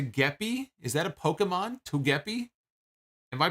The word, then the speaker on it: Togepi: here all right so I'm being told it's pronounced toe Togepi okay Togepi apparently Togepi is a is a Pokemon toguppy like a fish so apparently it's some kind